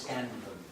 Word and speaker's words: Scanlon: Am I pronouncing that right? Miss Scanlon. Miss Scanlon. You pronounce it exactly as it's spelled.